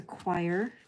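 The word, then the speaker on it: quire: clean this off so another word for Signature is a choir not spelled like the singing thing q i r e they're called signatures because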